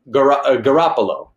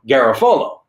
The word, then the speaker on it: Garafolo: I met his family, and see, he pronounces it Garofalo. Mm-hmm. I should pronounce it Garofalo. However, we got Americanized at some point, and it became Garofalo, and that's kind of what we go by.